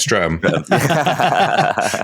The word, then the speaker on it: Streatham: Gogh lived in, I never know if I'm pronouncing that right, but I'm going to stick with my guns here. When Streatham, it's Streatham.